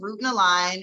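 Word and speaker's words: Route and Align: So my company is Root and Align, and it is spelled like a root, like a path, ROUTE.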